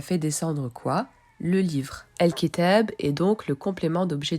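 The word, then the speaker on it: الكتاب: Al-Kitab. Nous retrouvons notre article défini suivi d'une lettre lunaire, donc le l se prononce.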